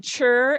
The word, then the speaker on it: ture: So if you hear yourself say chur, it's spelled with a T-U-R-E, but to give them that familiarity when they see it in a multisyllabic word, it's chur, right?